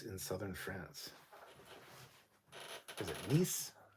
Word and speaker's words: Nice: Is it Nice? It's pronounced Nice.